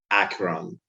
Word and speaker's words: Acheron: Acheron.